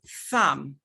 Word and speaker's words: thumb: For example, when you have MB at the end of words, the B is usually silent. So that is a formula. It could. You have, for example, kill. You have thumb.